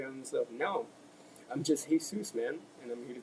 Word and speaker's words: Hesus: The reason my name's Jesus. The reason it's spelled with an H is because I didn't